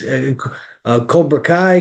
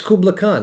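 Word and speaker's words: Kublai Khan: I'm like, "It's Kobra Kai." Kubla Kai. I'm like, "Okay." He's like, "It's Kubla Khan."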